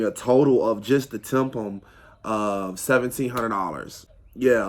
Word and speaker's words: TIPM: one underneath the hood they call it the temple um that's it's spelled t-i-p-m um i don't remember